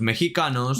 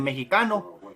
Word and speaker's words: mexicano: Entonces ellos, para hacer el nombre más corto de mexicano, le quitaron la M y la E y se identificaron con la palabra chicano. Porque la X en idioma náhuatl se pronuncia sh, S, H.